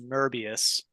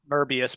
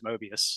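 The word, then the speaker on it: Möbius: called but it's pronounced it could be pronounced merbius but generally merbbius but it's really mo I mean everyone says mobius like mobius mathematics and anything else but the guy's name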